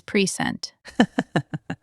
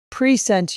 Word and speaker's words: present: Present you with this present? Try it. Stress the first syllable on the second word. I want to present you with this present. Verb first, noun second.